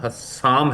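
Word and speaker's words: Hassam: Correction मेरा नाम हसाम है।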